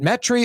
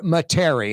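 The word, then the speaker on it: Metairie: Bobby is in metri Bobby is it metri or materi how do you pronounce it I say metri m e t r y woot there it is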